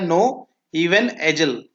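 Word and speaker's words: Knoevenagel: topic का नाम है नो यह के साइलेंट होता है नो इवन एजल नो इवन एजल रिएक्शन ठीक है तो हम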